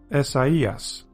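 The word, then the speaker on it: Ἠσαΐας: So that's where you get these 2 little dots, and now you can pronounce it as Esaias.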